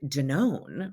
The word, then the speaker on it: Danone: their evolution including like janon right or dannon as some americans pronounce it but that like massive